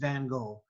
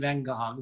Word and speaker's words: van Gogh: The one on the right is by Vincent van Gogh, or Vincent van Gogh, depending upon if you're in Europe or here pronouncing it.